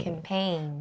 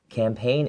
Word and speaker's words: campaign: planned event okay and we see a g in this word the g is silent so it's not campaign okay it's campaign campaign right and when we say that these people are this campaign is teaming up with